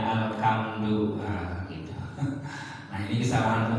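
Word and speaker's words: الحمد: Ha itu bersih ya, ha dari tenggorokan, huruf khalq. Ya, kadang-kadang ada yang bacanya alham. Ada juga yang dibacanya alhamdu, nah, gitu.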